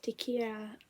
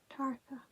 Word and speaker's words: Tarka: Next one is Tikira the Otter. What? Tikira? Tikira. No. Tarka. Tarka. Pronounced wrong.